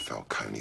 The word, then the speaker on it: Falcone: Wayne's died, Falcone stepped in, he's back. Finally, someone pronounces it right.